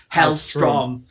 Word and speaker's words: Hellstrom: his code name is hell stone but it's pronounced hell strong so they've tried to go that way rather